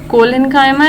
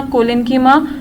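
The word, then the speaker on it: collenchyma: इसको ऐसे मत पढ़िएगा पेरेन्कीमा, कोलेन्कीमा या स्क्लेरेन्कीमा, इट्स पेरेन्काइमा। ओके, बहुत से बच्चों को मैंने देखा है वो गलत प्रोनाउंस करते हैं इसको, तो दिस इज रॉन्ग।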